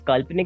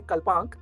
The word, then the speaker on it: Kalpanik: Right, and it's Kalpnk, if I'm right. How do you say it? It is Kalpnik.